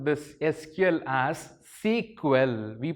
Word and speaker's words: SQL: pi skill though we call this sql as sequel we pronounce it as sequel and also we call